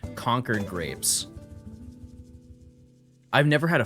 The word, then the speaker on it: Concord: Um, you guys are going to make fun of the way I pronounce them, but I trust me, it's just where I'm from. Conquered grapes.